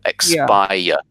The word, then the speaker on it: expire: be a little bit careful again with ex-spy yeah there's a there's an extra syllable here expire expire expire yeah yeah